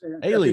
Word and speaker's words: Alinen: Olaus Alinen. Yeah. Yes. Alien.